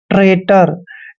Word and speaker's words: traitor: दोस्तों, टी का उच्चारण टे करते हैं, आर को रे पढ़ते हैं, ए आई को ए की मात्रा पढ़ते हैं और टी का उच्चारण टे करेंगे, ओ आर को रे पढ़ते हैं। ट्रेटर।